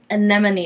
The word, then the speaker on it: anemone: Anemone is the word.